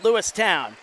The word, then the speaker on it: Lewistown: Lewistown not a preference it's said how it's spelled lewi town and there's a right